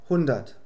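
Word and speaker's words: hundert: Die Buchstaben ER werden einfach wie ein A ausgesprochen. Es heißt daher einfach 100.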